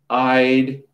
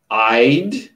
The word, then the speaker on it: I'd: Can't, won't, not want, won't, shouldn't, wouldn't, couldn't, I'd, not id, I'd, he'd, I'll, she'll, they'll.